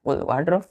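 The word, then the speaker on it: wardrobe: यहाँ पे आर जो है ना, कभी कभी प्रोनाउंसिएशन में क्या होता है, आर यहाँ साइलेंट हो जाता है, तो हम वार्ड पढ़ते हैं लेकिन आर नहीं पढ़ के OBE पढ़ते हैं।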